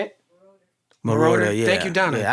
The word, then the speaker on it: Moroder: Giorgio Murata or something like that. Moroder? I don't know how yeah, to say it. yeah. Say it? Moroder, yeah.